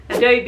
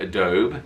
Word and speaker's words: Adobe: thought it was abby apparently some americans call it adobe adobe but it's adobe ah yeah adobe adobe